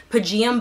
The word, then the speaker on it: Pygeum: But it's Pygeum bark. I think that's how it's pronounced, pygeum or pygeum bark.